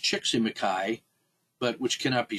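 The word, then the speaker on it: Csíkszentmihályi: that is like uh scholar whose name is pronounced chicky maai but which cannot be spelled by mortal man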